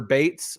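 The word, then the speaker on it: Zazie Beetz: Uh I also picked Zazi Beats um because I or Bates is actually how you pronounce her name.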